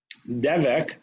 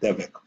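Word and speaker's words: דבק: Devek is glue in modern Hebrew. That's how you say it, devek.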